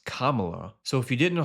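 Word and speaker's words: Kamala: Camela.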